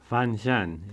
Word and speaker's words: Fanshen: Fanshen is the word, yes. Fanshen.